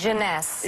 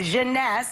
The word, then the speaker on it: Jeunesse: How do you pronounce this? Jeunesse. Jeunesse.